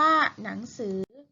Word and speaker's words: หนังสือ: เรียน ญอ หญิง นะ หนังสือ หอ นอ อะ งอ หนัง 2 คือ ถือ อ่าน ว่า หนังสือ ขยับ ขอ อย่า และ ก็